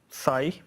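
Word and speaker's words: ψ: So this is pronounced psi.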